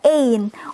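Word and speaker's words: één: Nah, kita nulisnya ein pakai tanda di sini di atas 2 ini. Gitu ya, pakai tanda karena kita bacanya ein.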